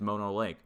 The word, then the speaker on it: Mono Lake: Let me show you Mono Lake, and I've been saying it wrong this whole time. It is Mono Lake.